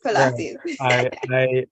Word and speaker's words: Pilates: Oh, now you pronounce it right. Yes, Pilates.